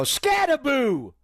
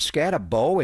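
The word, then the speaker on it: Skattebo: Is it Scatabo? It's B-O at the end, not Boo. He is scary. He said, I'm Cam Scataboo.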